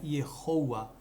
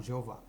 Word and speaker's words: Yehoah: eles colocaram como Jeová, lembrando que não existe J em hebraico, então a pronúncia nunca seria Jeová, que ocultaram também algumas outras letras. A pronúncia do tetragrama pós-exílio por influência do aramaico era Yehoah, tá? E não Jeová.